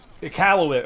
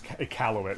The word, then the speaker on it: Iqaluit: It's Iqaluit. It's pronounced Iqalit, as far as I'm aware.